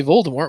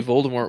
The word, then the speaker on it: Voldemort: but originally Voldemort was supposed to be pronounced Voldemort, and in the audiobooks, I think that is the way they pronounce it still.